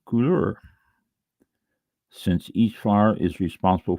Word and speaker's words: coulure: The next one has a pronunciation for me. Let's see what Coulure.